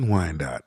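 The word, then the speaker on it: Wyandotte: costumes why not in wi dot I love wi dot can you spell it for for for people who aren't from the area w y n d o t t is wi Dot and why w y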